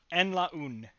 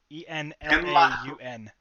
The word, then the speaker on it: Enlaun: Enlaun. E-N-L-A-U-N.